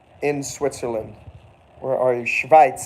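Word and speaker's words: Schweiz: Switzerland where are you schit is how you say Switzerland in German say it with me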